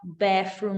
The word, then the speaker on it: bathroom: Atenção para esse TH aqui, ó. Não é bathroom, não é bathroom, não é ó, bathroom, não, tá? É bathroom. Linguinha no vão do dente e esse sonzinho.